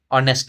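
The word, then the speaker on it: honest: तो ही इज ऑनेस्ट मैन। ऑनेस्ट है। इसमें देखो एच साइलेंट रहता है।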